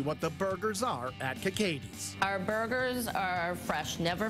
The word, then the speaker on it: KKatie's: It is KKatie's. That is how you pronounce it. It's not KKatie's.